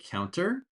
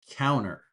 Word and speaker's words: counter: So you can say counter or you can say counter. Don't pronounce the T at all.